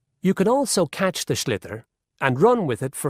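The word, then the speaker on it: sliotar: this ball called a schlitter that's s l IO t a r so it's not spelled the way it's pronounced you hit it into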